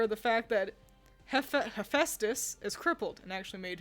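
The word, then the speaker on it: Hephaestus: that weren't aware of the fact that he hephestus is crippled and actually made himself several different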